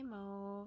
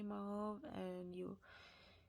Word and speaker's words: mauve: Yes, I say mauve. I think Canadians say mauve, and Americans say mauve. I mean, I don't know why. It's just the way it is.